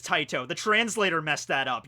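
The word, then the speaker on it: Tite: Oh, okay, so the correct way to pronounce his name is Taito.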